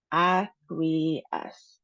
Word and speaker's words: acquiesce: Ac-qui-esce. We have three syllables. Um so, the emphasis is on the last syllable, -es. And then we have a long e sound in the middle.